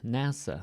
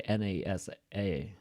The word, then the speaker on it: NASA: as a word ASCII NASA so we don't say n-a-s-a right usually we just say this as a word so NASA but we don't set